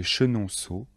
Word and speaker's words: Chenonceau: sont les châteaux de chambord de blois de chenonceaux et le château d'amboise attention de bien prononcer les noms de châteaux répétez après moi